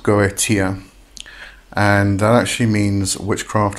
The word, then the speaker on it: Goetia: the word up here so it's it's it's pronounced gotia and that actually means witchcraft or sorcery and